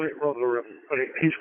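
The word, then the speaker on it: Rotherham: It's Tony Tango Oscar November Yankee and I'm located in uh we call it Robum, but it is pronounced Rob Ham or R O T H Romeo Oscar Tango Hotel Echo Romeo Hotel Alpha Magic.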